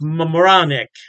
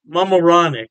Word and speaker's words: Mamaroneck: Halftime Beer has two locations in New York State, Poughkeepsie, and I believe it's pronounced Mamaroneck. Mamaroneck. Yeah, don't quote me on that pronunciation.